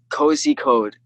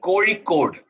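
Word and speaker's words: Kozhikode: It's actually Cory Code. Like D, like Cody Code. It's a very, no, it's not at all. It's the most tongue twisting letter in a language called Malayalam in India.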